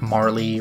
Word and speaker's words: Marle: looked up somewhere that the Japanese characters say, like, Maru, so it implies Marl rather than, like, Marley or something like that.